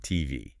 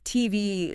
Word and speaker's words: TV: In English with initials like that, we usually stress the last letter. So, it's not TV. It's TV.